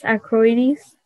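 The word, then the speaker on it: accroides: i believe so that is one of the pronunciations equities a c c r o i d e s acroidis that's correct thank you speller is 154.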